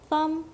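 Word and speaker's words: thumb: 엄지 손가락을 가리키는 단어로 이 단어를 발음할 때 주의할 점은 마지막 비를 녹음 처리한다는 것입니다 떵 드가 아니고 썸 이라고 발음합니다 그러면 엄지 말고 나머지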